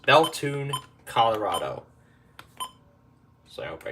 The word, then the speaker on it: Bethune: Next is WWF 77 out of Bethune, Colorado. That's actually how it's pronounced. Bethune, Colorado.